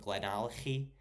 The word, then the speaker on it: Glenallachie: I don't know if you know that's the correct pronunciation, but Glenallachie with the Glenallachie. There you go.